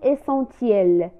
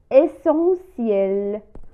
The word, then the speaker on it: essentiel: essentiel essentiel، ولا نقول essentiel، نقول essentiel، وهي تعني ضروري quelque chose qui est essentiel شيء ضروري.